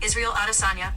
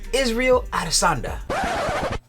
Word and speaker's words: Israel Adesanya: It's pronounced Israel Adesanya. There you go. Thank you, Siri. It's pronounced Israel Adesanya.